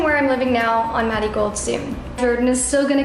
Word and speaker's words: MaddieGold: It's because in Mexico, the way that you pronounce marigold, the R sounds like a D, so Maddie Gold.